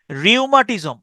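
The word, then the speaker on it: rheumatism: এসথমা asthma হাপানি দেখেন রিউমাটিজম রিমাজ মানে Baat bath আর এইচ এখানে কিন্তু এই এইচ এর উচ্চারণটা নাই আর হিউমা আর হিউমাটিজম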